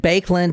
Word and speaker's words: Baekeland: related per se to the bands but and bakeland is spelled b a e k e l a